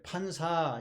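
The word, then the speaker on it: Panza: 영어를 그대로 번역해서 그런데에 스페인어로 하면 이제 판사 이렇게 발음이 됩니다에 그리고이 말은 이제 배불뚝이라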